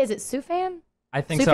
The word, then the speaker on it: Sufjan: Is it Sufan? I think so. Sufjan I was Stevens?